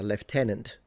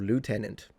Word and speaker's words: lieutenant: for instance or a left tenant or lieutenant if you want to pronounce it in the way that makes more sense.